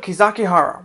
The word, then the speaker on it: Kizakihara: information on the battle, it is sometimes called Kizakibaru. Same characters in Japanese, just different way to pronounce them. So on the fields of Kizakihara, we have the Shimazu outnumbered 10-1.